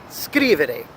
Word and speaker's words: scrivere: As opposed to now verbs ending in ere, we have scrivere. The emphasis falls at the beginning of the word, all right, the first syllable of the three.